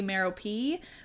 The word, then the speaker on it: Merope: Yes, I know the audiobook so well that that's how Stephen Fry pronounces it, and so I'm doing it. You're welcome. It's probably technically Merope, but that sounds silly.